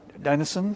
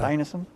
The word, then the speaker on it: Dinesen: Worked as a secretary to Danish writer, and forgive me if I mispronounce it, Isak Dinesen? Yeah. Dinesen?